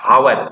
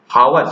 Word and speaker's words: hour: This is called hour, not hour. If you pronounce hour, so definitely you have to use a, but it is not hour, it is hour.